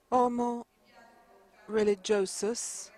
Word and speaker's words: Homo Religiosus: Homo Religiosus. I like to pronounce it with the correct Latin pronunciation so that we all have this in our ear as we heard it pronounced by Professor Ries.